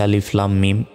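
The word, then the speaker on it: الم: কিভাবে উচ্চারণ করবো দেখুন আলিফের উপর জবর জের বেশ কিছু নাই কিন্তু এটাকে আমরা আলিফ এভাবেই বলবো তারপর লাম অক্ষরের উপর মোটা চিহ্ন এখানে চার সেকেন্ড টান হবে তারপর মিম অক্ষরের উপর তাজদিদ থাকলে ওয়াজিব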